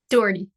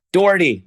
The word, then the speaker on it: Dougherty: Dougherty. Yeah. Dougherty.